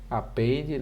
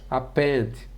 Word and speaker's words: append: tá juntando tá acrescentando a pronúncia ó append append n é meio esquisito a gente dar aula falando assim nessa pronúncia mas é o correto né apente o método apente